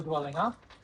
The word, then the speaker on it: Dwellingup: Now I'm going to give you the Noongar name for Dwellingup. So can you say four syllables or 4 sounds?